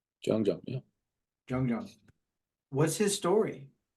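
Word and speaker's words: Jeong: Like Jean, Jean, I can never say his name right. Jung, yeah.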